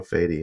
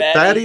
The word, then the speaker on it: Fady: Both pronunciations work, honestly. It's just whatever is easier for you guys. But yeah. Fady. Usually it's a Middle Eastern name. Mm-hmm. So yeah, the pronunciation I'm used to is Fady.